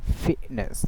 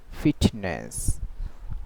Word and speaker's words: fitness: So this kind of uh T sound it's called golal T. Okay. So she says fitness, not fitness.